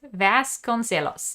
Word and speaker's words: Joana Vasconcelos: her name is Joana I am going to mispronounce this. Joana Vasconcelos, right? Vasconcelos, yes.